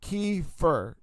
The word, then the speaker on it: kefir: Pronounced kefir. Kefir. Oh, and um Oh, $99 on Whole Food for 30. It's not coffee.